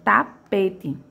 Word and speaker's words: tapete: Quem vai ser minha sílaba tônica? O meu P, ó. Tapete, o tapete. É a minha sílaba que mais se arrasta. Ela é a minha sílaba de maior tonicidade, certo? Então, a minha sílaba tônica será a penúltima.